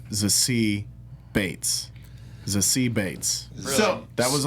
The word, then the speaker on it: Zazie Beetz: I just recently learned her name is pronounced Zazie Bates.